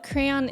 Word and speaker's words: crayon: to the Miriam wesper the proper pronunciation of crayon is two syllables however variations in pronunciation